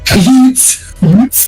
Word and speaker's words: youths: Utes. The H is silent.